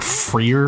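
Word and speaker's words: F.3.A.R.: 3 in 2011 but I pronounce it like Freer because it does that corny thing where instead of putting an e it replaces it with a three for the fear fear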